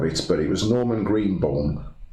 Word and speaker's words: Greenbaum: Well, obviously Doctor and the Medics sang a cover of it, but it was Norman Greenbaum. How do you pronounce that pen?